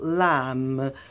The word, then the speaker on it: lamb: Okay, now other words that end in MB are, for example, lamb. Lamb is a little sheep, and there was a famous film called The Silence of the Lambs. So, again, without the B.